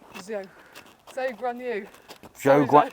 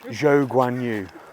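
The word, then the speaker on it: Zhou Guanyu: This is where George Russell and Quadran Cho, how do I pronounce his name? Zhou Guan Yu. Zhou Guan Yu. Sorry, Zhou Guan Yu.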